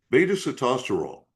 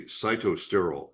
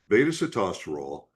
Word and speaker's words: sitosterol: Beta-sitosterol. Now, this one, and most Americans say cytosterol, makes me nuts when I hear it pronounced that way. Beta-sitosterol, that can help you